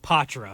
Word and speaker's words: Poitras: Because I didn't know how to pronounce it. There you go. Yeah. Matt Poitras.